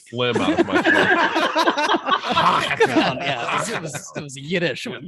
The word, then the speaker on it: Hochatown: First of all, is that how you pronounce the name of the town? Hochatown. Hochatown. Yes, say Hochatown, because if you don't, you say it differently, everyone up here will know you're a tourist.